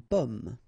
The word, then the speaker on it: pomme: Okay, so you can see that I pronounce them a little bit, a little bit differently, but then we'll be careful that in many cases people will pronounce them the same way, okay, because in that case normally it should be a bit lower, pomme, and then here more open, so pomme, okay.